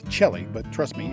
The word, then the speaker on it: Chelly: It's spelled Chelly, but trust me, it's de Chelly.